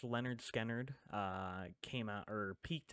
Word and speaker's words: Lynyrd Skynyrd: mhm um uh Leonard or pronounced Leonard skard uh came out or